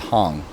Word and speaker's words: Hang: This is a new kind of steel drum called Halo, and it's based on a drum that came out of Switzerland 10 years ago called Hong, spelled like hang.